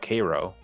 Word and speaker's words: Cairo: In Illinois, they call it Cairo. Cairo. It's spelled Cairo.